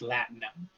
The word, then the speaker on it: latinum: It's pronounced Latinum.